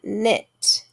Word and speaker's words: knit: is silent in knife next word knit once again we have a silent k k n making the